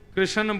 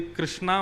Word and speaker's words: कृष्ण: लाल की जय बंधुओं कई लोग इस नाम को अशुद्ध बोलते हैं कई लोग कृष्ण बोलते हैं कई लोग कृष्ण बोलते हैं कोई कृष्णा बोलता है भगवान का नाम शुद्ध उच्चारण करो नाम क्या है कृष्ण भगवान जय श्री कृष्ण कृष्ण